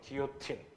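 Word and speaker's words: guillotine: 그래서 우리 길로틴이라고 하는데 기요틴, 그거 실제 발음 기요틴인데 단두대 있지?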